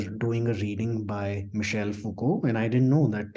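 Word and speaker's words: Foucault: Fuko is supposed to be pronounced as Fuko so I read it out as fuk because that's what the spelling makes you think right f o u c a u l t and everybody started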